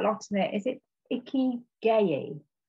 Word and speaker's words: ikigai: I know I'm gonna pronounce this wrong, but you talk quite a lot in it. Is it Ikigai? Ikigai.